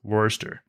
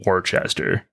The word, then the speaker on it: Worcester: master you're not a person from Massachusetts apparently Worster I am a Midwestern gal through and through from Chicago and Detroit I call myself a chai troiter don't let somebody from Massachusetts hear you pronounce it Worchester okay I'm saving you right now okay I